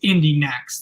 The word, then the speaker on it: Indy NXT: NXT sorry that's true it's pronounced Indie next that's actually is it